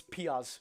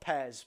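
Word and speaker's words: Pears: In goal, I'm taking that as his name's Piaz, not Pez, but it is spelled Pez.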